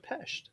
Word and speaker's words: Pest: And good job on the pronunciation pronunciation of Pesht.